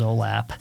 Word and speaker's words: OLAP: online transaction processing um olap usually pronounces olap online analysis processing I